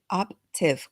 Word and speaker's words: Optiv: there you go see it's because in Spanish it's like optiva right it's like up I really have to enunciate that P and then that t you're like Raquel I